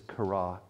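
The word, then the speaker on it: χαρά: letters up here and how you say it is kara kara and it means not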